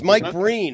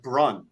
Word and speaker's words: Breen: I mispronounced my own name on the air. It's Mike Breen. How? That's hard to do. It just came out like Brun.